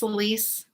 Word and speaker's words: Elise: plan on using out is your name celise is that how you say it's elise puppy is upstairs if